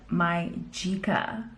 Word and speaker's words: MyGica: to do it and they were all pronouncing it my chica so that's how you pronounce it it's a 4k